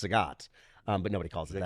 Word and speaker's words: Zagat: pinks is in yeah it's in it's actually pronounced Zagat um but nobody calls zag that was that